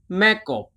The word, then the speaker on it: แม่กบ: reached the final group แ ม ่ ก บ แ ม ่ ก บ แ ม ่ ก บ Thai แ ม ่ ก บ is similar to the English the P sound.